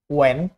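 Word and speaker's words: when: ডাব্লিউ এইচ যত word আছে সবগুলাই হবে এইচ গুলা সাইলেন্ট থাকবে সবগুলাতে। What, Y, ওয়েন, নট হোয়েন, right?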